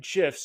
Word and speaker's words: GIF: to make your emails pop by adding animated gifs in MailChimp I'm from Gmail and in today's video I'm going to cover exactly how to insert animated gifs directly from Jiffy using MailChimp tools let's get